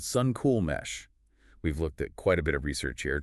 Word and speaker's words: Suncool: Suncool, just like it sounds.